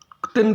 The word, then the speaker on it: क्तिन: क्तिन प्रत्यय, कुछ लोग तीन प्रत्यय भी कहते हैं, कुछ अक्तिन प्रत्यय भी कहते हैं, लेकिन मेरे गुरुजी ने बताया है कि क्तिन प्रत्यय होता है, आधा क है, उसका जल्दी से उच्चारण होता है।